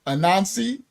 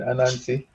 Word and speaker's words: Anansi: peoples the Jamaica and I don't know how to say that word ananzi I'm probably saying it wrong ananzi the Jamaica an that's fine Anansi okay the Jamaica Anansi tals